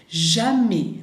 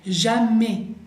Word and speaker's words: jamais: como Jean, bien, vibra, jamais. Acuérdense, la S final no la vamos a pronunciar y la A ahí es bien abierta, jamais, bien, jamais.